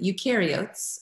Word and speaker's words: eukaryotes: yours i had to look up how to pronounce it eukaryotes am i saying that correctly yes it's a